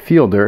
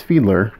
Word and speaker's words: Fiedler: wrong this whole time it's a not fielder it's Fiedler that D is before the L finally found that after